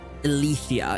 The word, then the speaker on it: Alethea: Alethea is the pronunciation I'm getting.